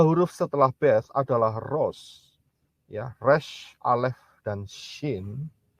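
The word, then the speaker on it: ראש: Itu bunyinya, ya, pronunciation-nya atau pengucapannya adalah Rosh.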